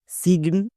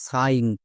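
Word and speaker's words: sign: একে একে ভুল করে কেউ কেউ উচ্চারণ করে সিগন বা সাইন কিন্তু এর সঠিক উচ্চারণ কোনটা চলো দেখে নিই এস এর জন্য দন্তস প্লাস আইজি এন এটা হচ্ছে ওয়াট প্যাটেন এর জন্য উচ্চারণ হয় আইন তাহলে দন্তস প্লাস আইন কি হবে সাইন সো ভুল করেও আমরা সিগন উচ্চারণ করবো না আরো কয়েকটি ওয়ার্ড দেখো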